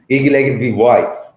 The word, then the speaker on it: Gigi Levy Weiss: Gigi Levy Weiss, right?